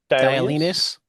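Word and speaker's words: Dialynas: Dinus.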